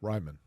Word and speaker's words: Raimann: Anyway, a lot of the mock drafts had Raymond going 42 to the Colts. So for him to fall in. Raimann.